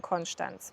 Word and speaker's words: Konstanz: befinden in dem Sprachraum, da werden einfach alle STs werden immer wie st ausgesprochen. Deswegen sagt man eben Konstanz.